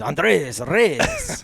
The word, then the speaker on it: Andres Reyes: Well, Boo Boo told me to say his name like you would a luchador on a wrestling deal. Is Andres Reyes.